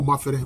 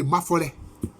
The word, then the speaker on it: Mafolé: Ils veulent trouver une autre explication au mot Mafere, mais ce n'est pas vrai. Mafere, ça vient de Mafolé. C'est Mafolé. C'est une autre prononciation du nom Mafolé, qui est un nom justement du clan Asamangema.